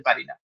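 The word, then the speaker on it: পাণিনি: এইযে পারিনি এইটা যখন আমরা সংস্কৃতে উচ্চারণ করি তখন এই যে মূর্ধন্য এর উচ্চারণটা আমরা দেখলাম অনেকটা ওই র এর কাছাকাছি আসছে। পারিনি বলছি আমরা। পানিনি বলছি না।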